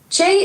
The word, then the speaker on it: Che: I don't know how to say it, but it's spelled C H E. Chay is a rapper from Atlanta, Georgia.